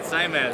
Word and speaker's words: XAIMED: to a company I am probably going to butcher the name is it zyed yeah Zed okay hi I'm Jay oh I'm je pleasure